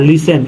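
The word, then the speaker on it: listen: एच टी सी एच यहां लिसन यहां टी नहीं पढ़ा गया यहां ऑफेन पढ़ेंगे यहां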